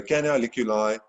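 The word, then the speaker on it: canaliculi: it okay can can i lick you live okay so don't please don't write anything about licking anyone's eyes in a test or exam but hopefully it does help you to remember how to pronounce it and spell it okay so the canoliculi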